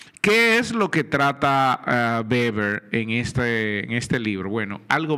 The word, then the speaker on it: Weber: Se escribe Weber, pero se pronuncia Weber. Recuerde que es alemán este hombre y se pronuncia Weber, porque la W al inicio se pronuncia como B, Weber, Max Weber.